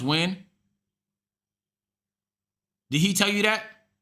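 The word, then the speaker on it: Nguyen: It's pronounced win. Did he tell you that? because I I struggle to believe that this is when my whole life I've been calling this new yen.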